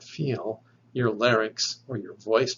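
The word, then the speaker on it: φι: on our table is the letter fee fee this is voiceless so if you make the sound of this letter which is like the english f or ph when you pronounce that you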